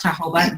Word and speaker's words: jojoba: It looks like jojoba oil. If you write it down, it's pronounced jojoba.